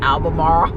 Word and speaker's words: Albemarle: I told Don it's pronounced Albemarle.